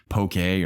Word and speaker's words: poke: only is it immaculate poki and I know I realized probably pronouncing that wrong and people tell me it's pokey or well okay Mon pote like like poke a bowl but I just say